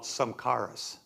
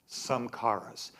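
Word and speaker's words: samskaras: He calls, I mentioned this last week, but I pronounced the word wrong. It's called samkaras. Samkaras.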